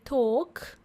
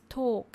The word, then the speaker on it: talk: Engaging in small talk. You know what, guys? L is silent when we say talk. Talking, L is silent. So it's just talk.